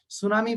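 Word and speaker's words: tsunami: সুনামি বানানের শেষে টি আছে, সুনামি বানানের শুরুতে এই যে এটা সুনামি, দেখো শুরুতে একটা টি আছে কিন্তু এখানে টির কোনো উচ্চারণ নাই।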